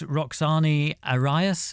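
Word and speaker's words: Roxani Arias: So, on Dead Butterflies, we've got Kano, but we've also got this Roxane Arias.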